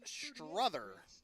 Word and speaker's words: Strother: it'll be the right-hander Grant Strother, S-T-R-O-T-H-E-R, rhyming with brother.